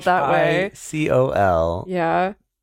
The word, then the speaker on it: Phicol: Yes, I'm just saying like this whole like thing about Abimelech and fecal and Like, jeez, Emily. What? That's how it's spelled. It's not. It's not spelled that way. Phicol.